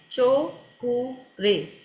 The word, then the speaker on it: Cho Ku Rei: तो स्पेलिंग मैं यूज़ सी एच ओ ठीक है चो कु रे ये इसकी स्पेलिंग है चो कु रे यानी तीनों वर्ड अलग-अलग है सी एच ओ